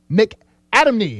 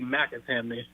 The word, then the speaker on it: McAtamney: McAdamney. Is that how you pronounce it? You know, that's the popular way to pronounce it. It's actually McAtamney.